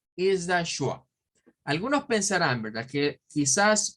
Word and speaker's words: schwa: Well, is not is not T, is the schwa.